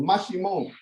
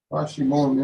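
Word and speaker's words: Maximón: It has the sh, like the S-H. So it's M-A-X-I-M-O-N, but the O has the what you call the accent over, so that you can get the stress on that syllable, Mashimon.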